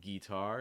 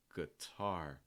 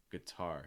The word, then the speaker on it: guitar: guh so it's not guitar it's guitar guitar stressing the second syllable there's one last sound